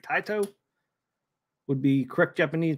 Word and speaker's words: Taito: not sway the vote taito would be the correct Japanese pronunciation so I think it's time the poll is closed it's time to blow up area 51.